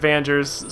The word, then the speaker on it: Vangers: I wanted to do a Let's Play playthrough of Vangers. I grew up calling it Vangers, so with the soft G.